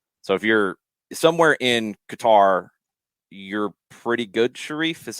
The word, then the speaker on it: Qatar: yeah it's sharif says it's a hard g sound in qatar according to the dialect of the natives formal formal arabic hard k sound and a slight stop between q a